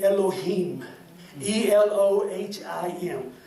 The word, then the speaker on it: Elohim: recorded is the name Elohim the loh I am and I'm sure you pronounce that different than I do but it's Elohim and that's the word